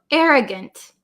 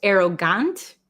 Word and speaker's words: arrogant: it should be pronounced arogant arrogant but um usually the last vowel in a word um we change it to like almost a short I sound I arrogant see how